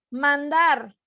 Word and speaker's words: mandar: Ok, y si la sílaba tónica, ¿si está en la última sílaba o está en la penúltima sílaba? Digo, mandar o digo mandar. Mandar. Está en la última sílaba, exacto.